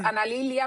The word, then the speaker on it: Analilia: So it's Mm, Analilia Mejia. And Analilia I'm so Mejia.